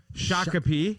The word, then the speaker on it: Shakopee: shakopee is that how you say it no shakopee yeah there you go and uh you know